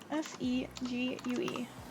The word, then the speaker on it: segue: oh thank you fabulous I had no idea that it was spelled like that s e g u e yeah I'd say it's a segue the Romantic Segway um felt cliche and